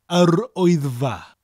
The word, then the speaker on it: Yr Wyddfa: The full pronunciation for the word is yr wyddfa.